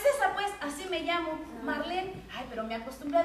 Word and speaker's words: Marlene: Es alemán. Sí se pronuncia la E.